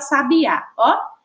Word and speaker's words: sabiá: identificar a sílaba tônica vamos para sabiá sabiá tão rapidinho a gente já consegue identificar e a sílaba tônica é lá agora a gente vai